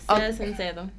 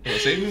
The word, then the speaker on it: ser sincero: Ser sincero. Period. What? Save me or save me? No, not save me. Sea sincero, be sincere. Be sincere.